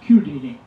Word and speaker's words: Chiodini: His name is spelled Chiodini, but in Italian it's Chiodini. Took me a while to get used to that, but I want to tell you a little bit about John.